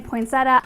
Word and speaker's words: poinsettia: I grew up saying poinsettia. The giant poinsettia. Poinsettia. That's what's so great about poinsettias. Poinsettia. Either way is acceptable. Poinsettia seems slightly preferred.